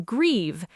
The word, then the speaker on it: grieve: And in grieve, the IE sound like a long E.